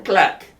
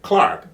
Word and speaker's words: Clark: at me he says he pronounced my name clack he was you know Clark Clark he says Clark he